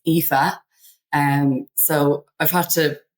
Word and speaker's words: Aoife: Um, the letters A, O, I together are pronounced E. So it's EHA.